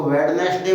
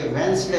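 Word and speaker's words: Wednesday: इसी प्रकार WEDNESDI, कुछ लोग इसको वेडनेसडे बोलते हैं, ये वेडनेसडे नहीं होता, ये वेंसडे होता है।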